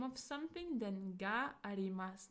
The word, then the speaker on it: が: It is pronounced as ga and it also can indicate existence.